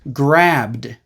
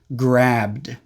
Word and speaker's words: grabbed: past tense form is grabbed the E is silent we go straight from the B sound into the D sound grabbed but when I said